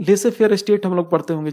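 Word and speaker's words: laissez-faire: मुश्किल क्या है, अगर नहीं बोलते हैं तो कुछ लोग बोलते हैं इसको लेजेस फेयर। लेजेस नहीं है, ये लेसे फेयर है। लेसे फेयर का मतलब क्या होता है, लेसे फेयर स्टेट हम लोग पढ़ते होंगे जनरल स्टडीज में।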